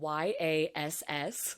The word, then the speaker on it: Yass: It's spelled YASS. So all I can do is go, yas.